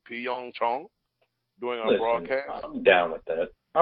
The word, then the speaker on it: Pyeongchang: No, it's Pyeong Chang.